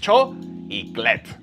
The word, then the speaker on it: chocolate: Only 2 syllables. Solamente 2 sílabas. Cho y clet.